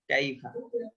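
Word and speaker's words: كيف: আলাম তার এটা কাইফা। এটা তো ছোট কাফ, তো এটা নরমাল কফ তো না, কাফ শুধু কাফ। হ্যাঁ, শুধু কাফ, কাইফা। বাংলা মানে কয় আকারের যে উচ্চারণ সেটা হবে জি কাইফা।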